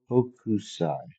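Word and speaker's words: Hokusai: So I've been pronouncing it wrong the whole time. So the art style is actually called okusai. So husai. Um, I'm probably still butchering it.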